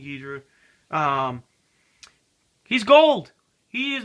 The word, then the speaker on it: Ghidorah: So, King Gedra, King Adora, however you want to pronounce it. I like saying King Gedra.